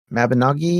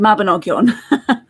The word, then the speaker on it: Mabinogion: little bit into them, and I always struggle pronunciation wise on this, but the Mabinogi, is that how you say that? Mabinogian? The Mabinogion.